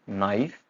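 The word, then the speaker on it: knife: जब भी के और एन टुगेदर आएंगे, इकट्ठे आएंगे स्टार्टिंग में, कोई वर्ड है उसकी स्टार्टिंग है ये, तो हम प्रोनाउंसिएशन कैसे करेंगे उसकी, नाइफ, चाकू।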